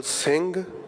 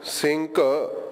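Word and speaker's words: ਸਿੰਘ: But when it's not at the beginning, we are pronouncing the words on the screen as sing or amog, as opposed to sinka, amoka.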